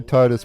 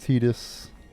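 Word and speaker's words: Tidus: We leave as soon as you I know I say Titus, but I've always called him Titus, so it's just a habit, but it's pronounced Tetus.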